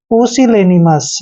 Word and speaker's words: pusillanimous: और देखिए एम का उच्चारण मैं करेंगे, और एस से पहले जब भी ओ यू आता है तो वहां पर ओ यू साइलेंट रहते हैं, तो एस का उच्चारण हमने स करना है।